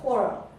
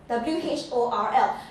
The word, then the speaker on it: whorl: That one is called whorl, W-H-O-R-L. Now, it's important to pronounce it correctly and not pronounce it W-H-O-R-E, right?